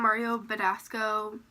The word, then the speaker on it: Mario Badescu: the inner corner I'm going to take some Mario Badescu so that's how you say it um rose